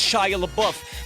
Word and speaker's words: Shia LaBeouf: And it's pronounced Shia LaBeouf.